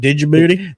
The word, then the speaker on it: Djibouti: Djibouti. Why is there a D in it, though? Isn't it Djibouti? The D is silent.